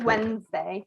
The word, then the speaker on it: Wednesday: um for wednesday so you don't pronounce the d actually it's silent wednesday thailand so it's just wednesday just uh without the